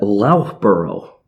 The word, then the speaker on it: Loughborough: I believe we would pronounce that Loughborough.